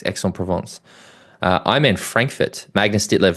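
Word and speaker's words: Aix-en-Provence: you say sorry ex provance so you do pronounce X Exon provance IM man Frankfurt Magnus dler Thor Bendix Madson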